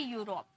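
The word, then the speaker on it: Europe: rule बता दिया कि कहीं आप कंफ्यूज ना हो इसे इ में प्रोनाउंस ना कर दो ये यू में प्रोनाउंस होता है यूरोप यूलॉजी ठीक है आगे देखिए आगे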